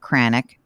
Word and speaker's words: Kranik: bring on guest kranik rhymes with panic who is our website